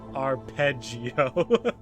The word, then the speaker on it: arpeggio: Tim Tim says it's a musical term pronounced arpeggio.